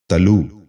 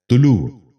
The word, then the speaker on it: طلوع: غور سے سنیے، طلسم۔ چھٹا لفظ ہے تلو۔ یہ غلط تلفظ ہے۔ درست تلفظ ہے طلوع۔ دوبارہ سنیے، طلوع۔ بچوں